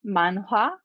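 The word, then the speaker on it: 만화: do you pronounce it i know it's manga in japanese but in korean uh-huh it's manuha yeah and then like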